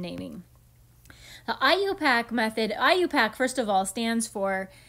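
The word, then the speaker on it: IUPAC: pack which is clearly it's an abbreviation but we pronounce it like a word I you pack and then the other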